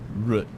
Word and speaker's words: root: Root. So it rhymes with put.